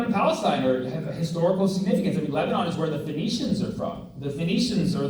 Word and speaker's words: Phoenician: You haven't heard the word Phoenician, I'll sound it out for you phonetically. Phoenician.